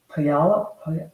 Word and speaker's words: Puyallup: I'm watching from Puyallup. Somebody told me how to pronounce that.